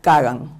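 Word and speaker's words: Коган: que voy a decir, su apellido se pronunciaría Kagan, porque es el apellido Kogan, y en ruso se dice Kagan, pero es como se traduce en español.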